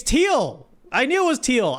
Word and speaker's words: Thiel: Actually, I'm going to look it up to pronounce it. I pronounce it differently every time, even though I know. I'm like on the spot on stream, so it's hard to get it right. Okay. It's Thiel.